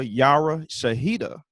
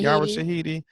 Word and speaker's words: Yara Shahidi: some positive news not only did our girl yara shahida did i say her name right shahid yara shahidi love her she signed a big deal we